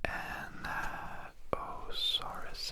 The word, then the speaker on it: Anatosaurus: It goes Anatosaurus.